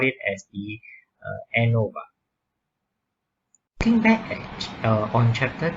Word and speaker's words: ANOVA: Analysis of variance, or we usually pronounce it as ANOVA, is a collection of statistical models and their